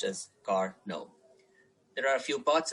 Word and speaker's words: Carnot: It's pronounced as Carnot.